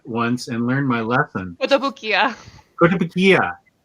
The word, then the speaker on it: Kotobukiya: Kotobukiya. Say it again. Kotobukiya? Kotobukiya. What did I say? Kotobukiya? Probably. You got the syllables right this time, though.